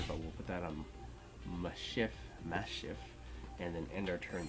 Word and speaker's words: Maschiff: We're going to put that down, and then we are going to read the Japanese version of the name, which is Orachifu. So that means that this would probably be pronounced Maschiff. Maschiff?